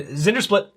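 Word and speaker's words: Zndrsplt: are you supposed to pronounce that so there's zinger slit Thank You Jay okay so this is gonna go to my hand and Zinder split by the way I of wisdom is a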